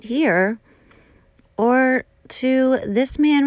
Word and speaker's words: Toth: killing his entire family this is Anthony Toth not Todd I've been saying the name wrong and this is his